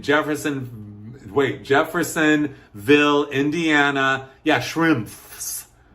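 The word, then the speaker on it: Schimpff's: Shrimps. Shrimps.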